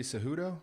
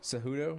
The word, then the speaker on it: Cejudo: Henry Cejudo? Cejudo?